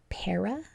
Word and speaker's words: para: Did you say that this was para? If you did, that's right, and you're going to spell it P-A-R-A. There's two unexpected things going on. The A-R is making the short vowel sound, and the second A in this is being schwa'd with the that lazy schwa, where we often